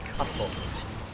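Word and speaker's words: kato: So the word for cat is cuttle. Cuttle. And it's spelled K-A-T-O, and it sounds pretty similar to English, so I don't think you guys will have an issue with that one.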